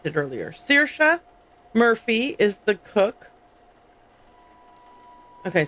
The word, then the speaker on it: Saoirse: Saoirse. That's what it was. I mispronounced it earlier. Saoirse Murphy is the cook.